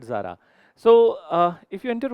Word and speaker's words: Zara: brand Zara then and this is not the exact pronunciation. It is a Spanish brand. It is called as Tara then. Yeah that's a pronunciation but then uh we call it Zara.